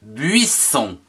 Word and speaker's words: buisson: Le buisson. B-U-I-S, buis. S-O-N, son. Buisson.